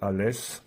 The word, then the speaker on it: Alès: d'Alès en 1 121 à l'époque alè s'écrivait a l a i s aujourd'hui alè bien sûr s'écrit a l e accent grave s la chanson du jour